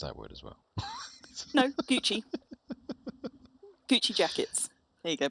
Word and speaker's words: Gucci: Gucci. Or have I mispronounced that word as well? No, Gucci.